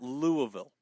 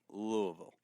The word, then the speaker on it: Louisville: lips well there was there was never Louis it was Lou Louisville but still Louisville call it that but Louisville well that's that is that is how it was pronounced like Louis Siana oh